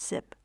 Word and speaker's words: XYP: So this is a tangle called XYP, it's spelled X Y P, and it's pronounced zip.